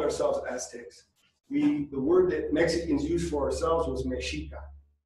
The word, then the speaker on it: Mexica: The word that Mexicans used for ourselves was Mexica. The X is pronounced with a sh sound. So when you see the X in Mexican, it's Mexican or Mexica.